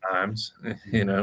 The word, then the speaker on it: Ijams: You also have IAMS, IJAMS, for anybody that looks it up online. It's pronounced IAMS, So that's a nature center.